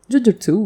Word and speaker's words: jujutsu: you pronounce it so Jujutsu would mean unarmed combat while Jujutsu with a shorter u means curse magic or sorcery and that is what